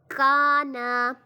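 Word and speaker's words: كانا: ہے، قولا صراطا سراجن، کانا کانا، نا کو لمبا نہیں کرنا، میں نے پہلے میں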